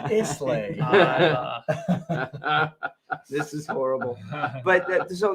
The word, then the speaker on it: Islay: It's called pronounced Islay.